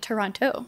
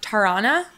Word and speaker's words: Toronto: from Toronto TDOT did I say that right Toronto not not Toronto definitely not true I used to say Toronto hmm and then all of my Canada friends yes France we're just like you're saying it wrong Sara Tarana the the more slurred you can make it like tirana them right but not